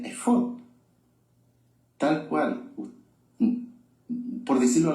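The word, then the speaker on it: אפוד: efod se escribe Aleph, Fei, Dalet, y se pronuncia efod, tal cual.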